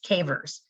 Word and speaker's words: CAIVRS: And they come up with something called a Cavers error, and it's spelled Caivrs, Cavers.